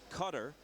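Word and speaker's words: Qatar: known as East timore cutter pronounced that way despite the spelling and Rwanda where the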